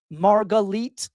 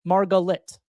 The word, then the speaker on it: Margalit: For those of you that are new to the show, my last name is pronounced Margalit, even though it looks like Margalit.